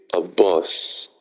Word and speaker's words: bus: Donc, un bus, c'est a bus. A bus. A bus. C'est un peu le juste milieu entre le E et le O.